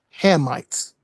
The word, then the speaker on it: Hamites: The correct way to say it is the the correct way to say it is Hammites.